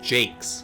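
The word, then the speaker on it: Jacques: brian sharp redwall yeah brian jack is how you pronounce his last name actually oh really okay it's actually no it's not jack it's jake's brian jakes i think interesting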